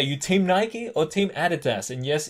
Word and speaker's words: Adidas: Okay, are you Team Nike or Team Adidas? And yes, here in Australia, we pronounce it Adidas. Okay, I know you American folks call it Adidas, but like, I don't know, okay?